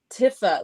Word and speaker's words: antifa: when they say antifa they say tifa not tifa like fash they don't pronounce it like fascism they make it sound like this tifa thing which doesn't it's not fashion it doesn't sound right and that's on purpose it's